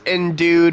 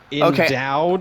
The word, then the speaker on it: endue: Max was endued with incredible compassion for his friend's problems. Endowed? Okay. No, it's E-N-D-U-E, and then the way it's pronounced is E-N... What? The way it's pronounced is E-N-D-O-O. So, endue.